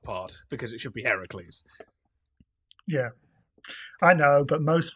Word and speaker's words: Heracles: And also getting the name wrong. We'll ignore that part because it should be Heracles.